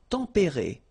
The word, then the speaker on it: tempérés: Les climats tempérés. Final S not pronounced, but then you should definitely pronounce the accent.